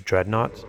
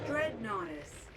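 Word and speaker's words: Dreadnoughtus: I was going to read that as dreadnots, but that is not. What is How do you say this? Dreadnotice.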